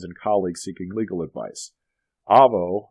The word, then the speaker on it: Avvo: colleagues seeking legal advice Avo it's pronounced with a long a not Avo was derived from avocado